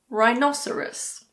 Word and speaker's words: rhinoceros: Similarly, if a word starts with RH, the H is silent. Like in rhinoceros or rhythm.